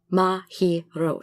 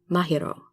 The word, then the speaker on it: Mahiro: Maho but no it's mahiro so it's mahiro when you read it all the syllables should be equal that's not to say